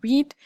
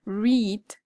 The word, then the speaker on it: read: Pay attention here because although we spell it the same, the pronunciation of the past simple and participle for read is the same as the color. So, present, read, past, read, read.